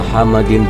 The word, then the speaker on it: Muhammad: English dictionary mendefinisikan bahwa Muhammadin dengan yang dicintai seseorang yang dirindukan seseorang yang terkemuka atau seseorang yang terpuji tersebut Hai pengucapan yang benar untuk seseorang yang terpuji adalah Muhammad dalam bahasa Arab dan ini adalah kata